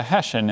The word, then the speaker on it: Hessian: mercenary Soldier as in Tex O'Reilly was a Hessian in the Boxer Rebellion and the Mexican Revolution